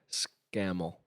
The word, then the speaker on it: Scammell: Scammell.